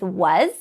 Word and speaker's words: was: if you are introducing words that use S that spells the z sound like we did with was you could also at